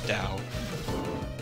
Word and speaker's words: Tao: this Trio is the Dao Trio spelled Tao but pronounced it's Dao uh in illusion to